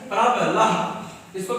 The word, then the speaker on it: प्रबलः: विसर्ग का उच्चारण कैसे होता है? हा, ऐसा। जैसे लिखा है प्रबलः, इसको क्या बोलेंगे? प्रबलः, ऐसा।